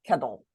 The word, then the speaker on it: kettle: with a tle e sometimes it's going to sound more like d like kettle Kettle okay just something that happens with our mouths okay so petal how many syllables petal two she warmed up the water in a kettle can you say Kettle Kettle which one stressed Kettle K the first syllable stressed K good job second